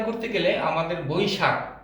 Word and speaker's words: বৈশাখ: স্বভাবতই দ্রুত উচ্চারণ করতে গেলে আমাদের বৈশাখ ক চলে আসে, কিন্তু এখানে আসলে বৈশাখ বানানে খ, খ হলো মহাপ্রাণ, খটাকে ধাক্কা দিয়ে বলতে হবে বৈশাখ।